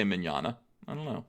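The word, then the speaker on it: Mignola: TLJ Screwjob says also it's pronounced Mignana. Not Minyanya. What did I say? I usually say Minyana.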